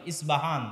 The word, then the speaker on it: ইস্পাহান: আমরা প উচ্চারণ করি ইস্পাহান, আরবিতে এটা উচ্চারণ হয় না। আরবিতে হয় আল আসবাহানি, বা উচ্চারণ হয় ইসবাহান বা আসবাহানি।